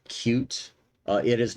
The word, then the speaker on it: Qt: built on qt6 now the designers or the project maintainers if you will like it to be pronounced cute uh it is not